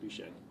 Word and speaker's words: Buchanan: I think they pronounce it Buchanan, right?